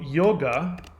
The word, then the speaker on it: yoga: to be unified so yoga which is if you hear um lots of indian guys pronounce it they won't pronounce it yoga they will pronounce it yog do you pronounce do